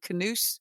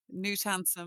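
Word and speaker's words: Knut Hamsun: I used to go around calling him Canute when I first discovered him, but I'm delighted that you've corrected me there. So I now know in future Newt Handsome.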